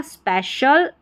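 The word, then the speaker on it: special: तो, यहां पर पढ़ा स्पेशल, सोशल, ऑफिशियल बड़ी-बड़ी स्पेलिंग्स में यह वाला पैटर्न हमको मिलेगा।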